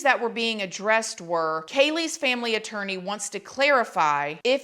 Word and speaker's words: Kaylee: was very disrespectful that the judge got Kaylee's name wrong. The judge did call Kaylee Kayla, which I was even surprised to hear, especially since this is such a well-known case.